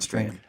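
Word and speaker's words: Strachan: u c h a n he even said strand right yeah yeah it's Owen strand yeah all right Owen strand if you're listening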